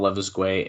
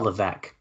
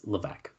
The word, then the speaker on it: Levesque: Oh, I said it stupid because I know a friend who used to say that. Paul Levesque. Yeah, It's fucking, I think Joe used to say it like that, so the joke came in my head. Levisque. Damn it. Okay. No, that's a friend used to say it as a joke. It's Levesque.